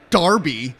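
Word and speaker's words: Derby: know give it a rest Buster's the Manchester Darby that they have to play labor today well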